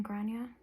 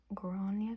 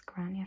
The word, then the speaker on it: Gráinne: green well there are technically two ways that you could pronounce it depending on where you are most of Ireland would be saying gronya green but I'm not from the rest of Ireland hey so it's grania for me but you can take